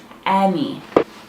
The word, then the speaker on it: any: one your It's kind of confusing though cuz it's not pronounced with an a. It's pronounced with an e. It's any.